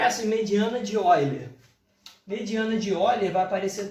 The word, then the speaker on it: Euler: Se escreve Euler, né? Mas se fala Euler.